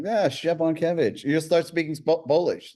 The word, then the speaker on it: Szczepankiewicz: It's Szczepankiewicz.